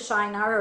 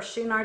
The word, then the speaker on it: Shinar: it was in the land of Shiner or shunar depending on your pronunciation we know later that's